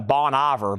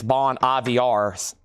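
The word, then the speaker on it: Bon Iver: It spelled like Ivor. Like I always call it Bon Ivor, but evidently it's Bon IVRs.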